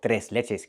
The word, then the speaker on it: tres leches: We use the Spanish name and we call it tres leches cake, or tres leches cake, depending on your pronunciation.